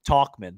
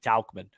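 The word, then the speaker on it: Tauchman: hit Smiley uh yeah I think I'm saying his name wrong talkman is that right talkman yeah yeah I think I keep saying talcumin um Smiley I think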